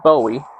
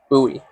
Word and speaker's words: Bowie: So that's why it's called the buoy knife. Not to be confused with Bowie because that's David Bowie the musician. Uh but the actual pronunciation of the name is Buoie.